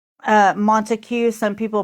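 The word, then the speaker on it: Montague: This Monteue County say uh Montue. Some people pronounce it Monte County. So it's M O N T A Gu. Yes. Okay. So yeah, guys, um Montigue.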